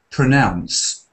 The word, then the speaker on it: pronounce: well look at this you've got ow and a Ow like in how now brown cow this is in pronounce ounce we have a unit